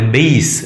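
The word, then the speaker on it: bass: അതിൻ്റെ ഉച്ചാരണം ബി എ എസ് സിക്ക് തുല്യമാണ്, ബെയ്സ്.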